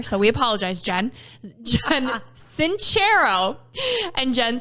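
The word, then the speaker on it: Sincero: Jen cero who we have been saying her name wrong forever so we apologize Jen Jen cero and Jen says everybody arrives on the planet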